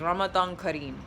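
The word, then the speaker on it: Ramadan Kareem: say it back is Ramadan Kim all right that's how you say it okay well that's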